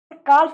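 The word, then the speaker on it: calf: काफ मत पढ़ना, L silent हो जाता है यहाँ पर, साथ ही हुआ एल को म्यूट पढ़ते हैं, काफ पढ़ते हैं।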